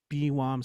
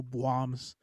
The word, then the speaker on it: BWOMS: I like to pronounce it as BWOMS. Some people go BWOMS, but it seems clunkier, like BWOM.